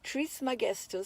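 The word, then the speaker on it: Trismegistus: is most commonly called Hermes Tri magest pronounced TR magest which means Thrice great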